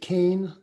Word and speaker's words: Kean: And to my right, the woman is Leslie Kane. She pronounces it Kane, but it's actually spelled Keen, Kean.